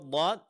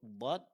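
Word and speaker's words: ض: Kemudian huruf dod tadlil. Dan perlu diperhatikan sifat yang paling menonjol pada huruf d adalah sifat istitalah. Yaitu suara agak memanjang dalam pengucapannya.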